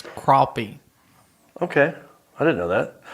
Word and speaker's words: crappie: this fishing stor yeah it's pron it's not pronounced crappy it's crappy okay I didn't know that what's crappie it's